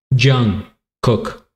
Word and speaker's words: Jung Kook: the one and only Jung cook if that's how you say it a lot of people corrected me I used to uh say young and everybody in the